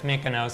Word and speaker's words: Mykonos: Mykonos Yeah.